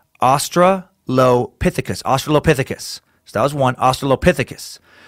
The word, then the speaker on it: Australopithecus: First, long word is pronounced Australopithecus. Australopithecus.